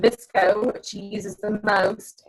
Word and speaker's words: VSCO: One called Visco, which she uses the most and seems to be really, really good for getting colors just right. It's spelled VSCO, Visco.